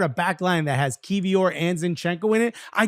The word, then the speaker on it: Kiwior: How do you pronounce his name? Kivior or Kiwior? No, it's Kivior. Kivior.